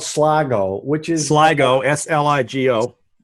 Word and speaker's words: Sligo: We ended up playing Sligo, we did 18 at Sligo.